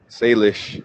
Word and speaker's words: Salish: Um, Sish, is that how you pronounce it? Salish. Salish.